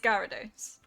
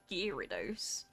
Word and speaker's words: Gyarados: I'm right. It is Gyarados. Okay, that's good. Some dude did it. Gearose. Who the looks at g ya and goes gee? No, gearose. That sounds like gerose.